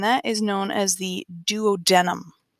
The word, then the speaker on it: duodenum: is known as the duodenum spelled exactly like it sounds duo denim sometimes you may hear